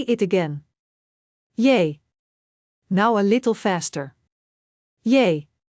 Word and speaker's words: J: Yay. Similar to the English Y in yes.